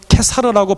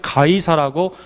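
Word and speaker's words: Caesar: 로마의 걸출한 영웅이었던 율리어스 시저 그 라틴 말로는 케사르라고 발음하기 때문에 한국에서는 케사라라고 돼 있었고 개역한 글이 이것을 번역할 때 가이사라고 중국 발음을 그대로 따왔습니다 가이사 율리아 시저 가이사가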